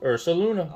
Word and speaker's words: Ursaluna: Well, how do you pronounce this one? Ursaluna? Ursaluna, yes.